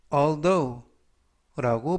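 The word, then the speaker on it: although: 표현이 되겠습니다 이번 표현은 Al Al alth라고 발음하시면 되겠고요 이때 유의하 실점은 th 돼지꼬리 발음 드 그리고 맨 끝부분에 있는 gh 이번 단어에서 무음이라 발음이 되지 않습니다 그래서라고 발음하시면 되겠고요 품사는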